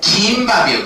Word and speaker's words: 김밥: 때문에 그래요 얘는 여러분들 대부분 학생들이 발음을 어떻게 하는 거냐면 김밥으로 발음을 한다이 말이야 근데이 발음은 원칙상 잘못된 거라고 볼 수 있습니다 이유는 뭐 때문에 그러냐면 미음이 울림 소리란 말이야 울림 소리가 안 울림 소리랑 만났기 때문에 이때는 된 소리 대기가 일어나지 않아요 그래서 정확한 발람은 어떻게 되는 거냐면 긴 밥이요 긴 밥 긴밥 이렇게 발음하는게 적절한 발음이라고 볼 수가 있겠지 밥이 아니라